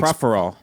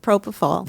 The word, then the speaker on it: Propofol: It's Proferol. Is that how it's pronounced? Proferol? It's Proferol. Hey, Proferol. Isn't it Proferol, Shannon? What's it called? Propofol.